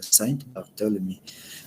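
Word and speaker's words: Saint-Barthélemy: todo este concepto viene del término francés más actual de la saint barthélemy es así como se pronuncia y esto más que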